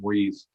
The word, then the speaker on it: Moise: It's the French pronunciation, Moise.